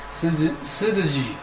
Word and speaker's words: syzygy: It's called how to pronounce this? SYZYGY.